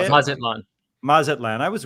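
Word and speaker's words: Mazatlán: Mazatlan.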